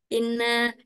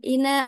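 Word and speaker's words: إنا: Jadi bacanya bukan in bukan ina arsalna, harus panjangnya 4 sampai 6 titik poin.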